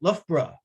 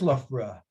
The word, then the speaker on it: Loughborough: unusual language this english that we speak the ou g h o u g h two different sounds just in that one name and someone told me there's more than a dozen ways to pronounce ough in the english language but where is loughborough